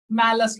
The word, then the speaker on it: Malus: के अंदर दो ही चीजें पढ़नी होती है, मैलस लॉ। बहुत बार जेईई मेंस में इस पे क्वेश्चन आया है, ध्यान सुनिए। सर स्पेलिंग क्या है सर?